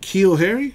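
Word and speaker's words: N'Keal Harry: of Houston refractive mojo and keel Harry is how you pronounce that refractor I know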